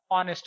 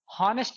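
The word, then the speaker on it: honest: जैसे ऑनेस्ट, ठीक है, तो इसका उच्चारण क्या होता है, ऑनेस्ट होता है, हॉनेस्ट नहीं होता दोस्तों।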